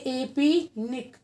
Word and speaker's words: APNIC: Security council of India, और APNIC, इसको pronounce करेंगे APNIC, इसका फुल फॉर्म है Asia Pacific network information centre.